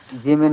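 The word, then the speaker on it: ج: জিমটা হচ্ছে আমাদের জিহ্বার মধ্যকান উপরের তালুর সঙ্গে লাগায়া, জিহ্বার মধ্যকান উপরের তালুর সঙ্গে লাগায়া।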